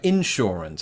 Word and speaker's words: insurance: traditionally American way and this is quite a subtle difference is the word insurance I put the emphasis on the in instead of saying insurance which is